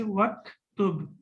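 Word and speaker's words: وَاكْتُبْ: Now we see here that Hamza of Uktub is Hamzatul Wasl, and Hamzatul Wasl, we do not pronounce it when we connect it with any other harf or with any other word. So when we connect it with waw, then we will not pronounce it and we will say waktub, waktub.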